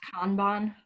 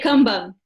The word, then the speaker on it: Kanban: It's actually pronounced Kanban, just for you guys. Kanban? Potato. We call it Kanban at CW. So I have my excuse. In Portuguese, we say Kanban.